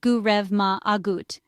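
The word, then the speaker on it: go raibh maith agat: The English phrase thank you is common in Ireland, but in Irish you can say go rive maith agat, pronounced gu rev ma agut.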